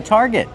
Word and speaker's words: target: Use the R sound like car and far, tar, plus the hard g sound. Target. Not target, it's target.